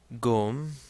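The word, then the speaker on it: ϭⲟⲙ: Finally, we have here the word gom. So again, we have the Ganga taking on a hard G sound since it's followed by a short O.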